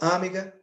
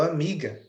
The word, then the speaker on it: amiga: é sílaba tônica não a sílaba tônica é mi Eu não falo amiga eu falo amiga Então nesse caso eu